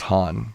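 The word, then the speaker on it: Hahn: check that real quick it's probably pronounced han katherine han but you know the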